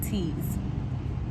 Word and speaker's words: TEAS: So it's spelled TEAS, like TEAS.